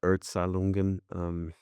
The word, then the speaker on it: Erzählungen: That's Kafka's, how would you pronounce that? Erzählungen, Die Erzählungen.